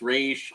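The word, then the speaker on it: Ra's al Ghul: have always liked rossignol i like to pronounce it ross algul and then at one point found out it's because everyone was like oh no it's race and then apparently there's like two different dialects so i'm like all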